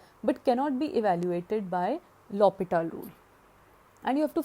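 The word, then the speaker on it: L'Hôpital: the correct pronunciation, L'Hopital rule.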